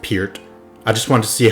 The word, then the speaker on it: Peart: Neil Peart was born on September 12th, 1952 in Hamilton, Ontario, Canada. Haha, gotcha. I know his last name is pronounced Peart.